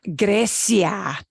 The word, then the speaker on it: Grecia: Vamos a Grecia. Grecia. Yeah. Okay. Yeah. The pronunciation of that would sound a little bit funny.